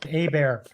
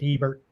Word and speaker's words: Hebert: no no it's actually it's a french uh last name so we pronounced a bear uh but uh anywhere